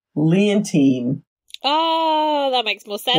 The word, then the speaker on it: Leontine: This name, it's Leontine.